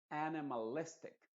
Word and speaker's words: animalistic: Por ejemplo, animalistic. Si tú te fijas, ahí enfaticé, por ejemplo, antes de la A encuentras una comilla en la parte de abajo que significa que es la segunda sílaba más importante de esta palabra y la primera sílaba más importante es listic. Animalistic. En otras palabras, las dos que tienes que enfatizar es A, la primera, y luego listic.